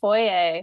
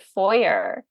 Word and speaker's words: foyer: a word like Foye like I say it Foye mhm but when I was in the US for my MFA they pronounced it foyer oh in some some states so I was you